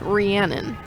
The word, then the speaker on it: Rhiannon: It's pronounced Rhiannon. I'm sorry, sometimes the multiple ends are tricky.